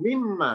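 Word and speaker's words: مِن مَا: minma Min spasim Ma meskipun enggak dilebur tapi cara bacanya sama langsung mimma nunnya enggak kelihatan ya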